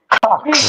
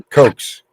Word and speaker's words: Cox: Cox. All right. Say it again. I'm sorry, I couldn't hear that. COX. Okay. COX. Cox. Oh, Coke. Cokes.